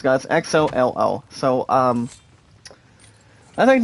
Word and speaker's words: Xolo: His first name is pronounced, guys, Xolo.